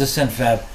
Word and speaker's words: AscentFab: How long has AscentFab been in business, and how long have you been full-time? Right. So AscentFab has been in business since April 29th of 2021.